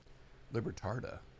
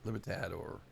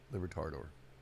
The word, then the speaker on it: Libertador: Libertardo, Tador. I can't say it right. Libertard. I mean, Libertador. Tador. Okay, Libertador.